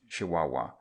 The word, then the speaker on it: Chihuahua: If we had come into Mexico by the Central Railway, we would have passed through the state of Chihuahua, pronounced Chihuahua, but we wouldn't have seen much, as the